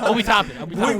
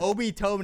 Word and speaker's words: Obi Toppin: Tobin Said his name wrong like, twice. Obi Toppin. Would you ever expect Rank to say his name correctly? Sorry. Would you ever expect him? Obi Tobin is playing for Matt Nagby.